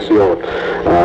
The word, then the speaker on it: Massiola: Massiola, is that the way I pronounce the last name? That's right, Massiola.